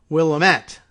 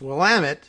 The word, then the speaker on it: Willamette: well am it weak even though it looks like willamette like a diminutive william or something like that but it's willamette somehow because i guess